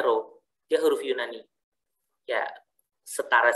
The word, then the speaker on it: rho: Ya, jadi yang bentuknya mirip kayak huruf P ini, itu bacanya rho.